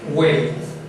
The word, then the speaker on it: veritas: O para hacerlo más práctico, en su mente hay una W. Hueritas. Más fácil. Entonces, así se pronuncia.